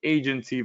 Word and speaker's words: Aigency: I'm introducing you today to Agency Valet. Uh the I is silent. All right. It's just there for pretty much uh visual aesthetics.